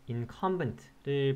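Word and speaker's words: incumbent: 되겠습니다 또 사실 이 단어 인 컴 벤트를 발음할 때 주의하셔야 될 것 같은데 어디에 있 아름 당 3를 둬야 될지 가 상당히 어려울 수 있습니다 그러니까 인 컴 벤 트 요렇게 발음해야 된다는거 알아두시면 좋을 것 같네요 땀으로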